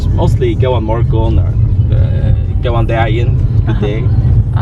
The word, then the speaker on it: Góðan morgun: Góðan morgun. Góðan morgun. Okay. No? Yeah, we also have more Faroese. Tell me. Farewell is goodbye. Farewell. And hello in Faroese? I don't think it's mostly góðan morgun or góðan daginn, good day.